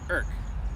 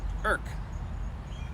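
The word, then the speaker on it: Erick: It was called Eric, but they don't pronounce it Eric. They pronounce it Irk. Irk.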